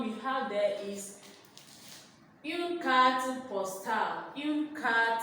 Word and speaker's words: carte: So on the board, the first one we have there is une carte postale. Une carte, so you know that I'm pronouncing the T here because it's not the last word, letter there.